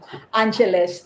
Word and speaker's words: Angeles: City also and uh he pronounced Angela City to Angeles that's Angeles not Angela City Angeles yeah regular guy yeah